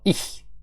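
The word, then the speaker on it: ich: Ну, потренуйтесь, тому що цей звук, він дуже популярний в німецькій мові. Є багато слів, е, іх, міх, дих, зих і так далі. І якщо ви його, е, не навчитесь вимовляти правильно, будете завжди помилятись. Тому рекомендую потренуватися на саме слові я.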